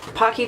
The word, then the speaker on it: Pocky: if you don't know Pocky chips rhymes with hockey it's not it's not Pookie it's not whatever you want to come up with it's hockey hockey chips they're the creator of